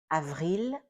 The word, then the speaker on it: ail: Ail it ends with an l and that l is not silent.